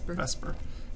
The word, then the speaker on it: VSEPR: valence shell electron pair repulsion theory and we pronounce that investment right Vesper it's a valence shell electron pair repulsion is